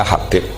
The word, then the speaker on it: Habib: Itu di harakatnya kitab itu ada yang nulis Hubab. Tapi yang benar Oh, nggih. Yang benar itu bacanya Habib.